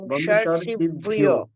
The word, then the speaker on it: বংশর্ষিভ্যো: কি করবেন, এখানে ভয় জফলা আছে তো, ভিয় উচ্চারণ করবেন, ভি আর অ, তাহলে ঠিক হবে। ভি অ ওকার আছে বলে ভি ও, আমরা কি বলবো, ভি ও, ভিও, বংশর্ষিভ্যো।